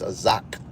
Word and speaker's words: Isaac: How to pronounce it is Azak, which means laughter.